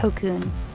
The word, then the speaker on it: 特訓: Así que mientras el juego en inglés se llama Special Training, en japonés se pronuncia Tokkun.